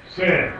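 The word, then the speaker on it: שִׂין: How's this one pronounced? Sin.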